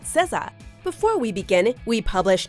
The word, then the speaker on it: SZA: time to learn how to pronounce her name because you're going to keep hearing it welcome to Ms mojo and today we'll be counting down the top 5 facts about cezzah before we begin we